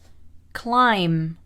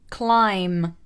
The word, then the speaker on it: climb: gonna teach you some of the words with silent letters let's begin silent b climb climb comb comb crumb crumb debt debt doubt doubt